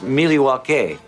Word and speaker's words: Milwaukee: It's from Third Space Brewing, which is right here in Milwaukee, or Milwaukee. Actually, it's pronounced Milwaukee.